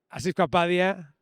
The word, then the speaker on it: Asif Kapadia: Acabamos de hablar con Anthony Dodmantel y está frente a mí Asif Kapadia. So pleased to meet you, so pleased to talk to you. Am I pronouncing this right?